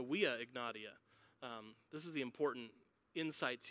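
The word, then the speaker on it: Via Egnatia: It was also on one of the major highways of the Roman Empire, the Via Ignatia, or if you want to pronounce it like a Roman, the Via Ignatia.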